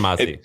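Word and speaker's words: Hormozi: I consider him a friend, but I don't know if it's pronounced Mosey or Mozzie. Alex Hormozy. Is it? No, Mozzie. It's Alex like Hermazzi.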